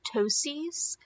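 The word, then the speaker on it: ptosis: with your patients is that they will develop Tosi's and that is drooping of one of the eyelids and so that is spelled PT o sis so you need to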